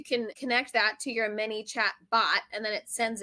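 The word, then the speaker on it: ManyChat: I don't even know what Minichat is, which by the way, it's spelled M A N Y C H A T, and it took me the longest time to even figure that out.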